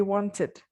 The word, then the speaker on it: wanted: The ed will be pronounced as it. Okay, for example, the word want plus ed will be wanted, wanted.